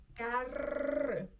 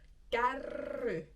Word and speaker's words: kärry: Kärry. If you can't roll your R's yet, I suggest practicing that since this takes a lot of R rolling. Kärry.